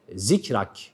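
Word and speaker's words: ذكرك: bizim için neden çünkü bu kelime zikrak zikrak şeklinde okunuyor bir Peltek olan V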